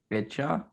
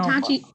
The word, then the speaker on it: Itachi: Icha? It's Sasuke's brother. Uchiha. No, what's his first name? I know. Itachi.